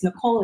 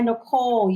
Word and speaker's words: Nycole: And what a little twist that nobody like unless they really know me is Nycole is spelled with a Y. So it's NYCOLE. Doesn't make sense, but you always remember me.